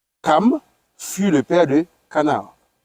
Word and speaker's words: Cham: Les fils de Noé qui sortirent de l'arche étaient Sem, Cham ou bien Cam. Oui. Parce qu'on prononce Cam.